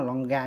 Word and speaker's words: Longines: Ở nước tiếng Anh đọc đúng là Longa, nhưng mà tôi đọc Longines cho các bạn dễ hình dung, tại Việt Nam thường hay gọi là Longines.